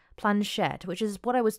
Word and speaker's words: planchette: the modern play let I'm saying it wrong I plunge shet planchette which is what I